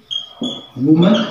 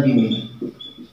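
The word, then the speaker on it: women: जैसे एक वर्ड दिया मैंने वुमन, सिंगुलर है, बट इसका प्लुरल रूप बनाया जा सकता है और इसका उच्चारण होता है विमेन, विमेन।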